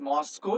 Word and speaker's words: MoSCoW: W is hood so it is pronounced as Moscow so that it will be